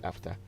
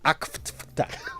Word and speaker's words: AfCFTA: Now, after, because of Kojianse, when I see after, I don't know if it's the... Please, after is AFTER. What are you saying? Say it right. AFCFTA.